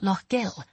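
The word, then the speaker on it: Lough Gill: Is the lake called Lo Gill? I asked, catching myself just in time and pronouncing it correctly.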